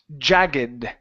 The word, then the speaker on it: jagged: All right, let's go to the word jagged. Okay, this here, since it is not a verb, to jag, okay, in this instance, okay, we say jagged. This does not follow the ed ending rules.